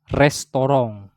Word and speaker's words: Restaurant: Nah, ini bacanya restoran. Ya, restoran.